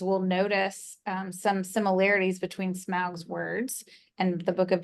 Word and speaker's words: Smaug: So I think we're starting here in chapter 12, where Bilbo is speaking to, do you say Smaug or Smaug when you read them? Smaug. Smaug. All right. So I'll adopt your pronunciation.